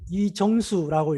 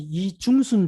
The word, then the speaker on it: 이정수: 그래서 이걸 어떻게 읽냐고 저한테 묻더라고요. 그래서 이정수라고 읽는다 이렇게 이야기를 했습니다. 자기는 이때까지 이중수인 줄 알았답니다.